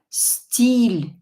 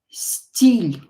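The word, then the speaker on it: стиль: So we have the soft sign here. Soft sign softens the consonant before it. Steel. Steel. So we pronounce L a little bit softer. Without the soft sign it would be steel. Steel. With the soft sign it's steel. Steel. So it makes L softer.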